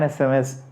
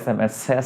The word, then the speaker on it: SMS: a consonant sound but when you pronounce sms that e that vowel sound comes first so that's why i have to say send me an sms and not send me a sms send me osms is